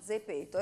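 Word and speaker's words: Zepeto: genere è ripeto quindi proprio come si pronuncia a dzeko la zeta di zorro ze peto e questa applicazione voi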